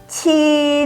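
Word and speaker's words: 七: Kalau 7 harus keluar udara. Ci, jangan dibaca ci.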